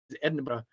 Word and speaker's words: Edinburgh: They said it's like bread and butter, but without the B's, Edinburgh.